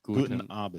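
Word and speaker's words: Guten Abend: Guten Avent Guten Avent.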